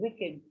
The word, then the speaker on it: wicked: ma'am by a week witch Ed Wicked yes that's the pronunciation Wicked and which ma'am which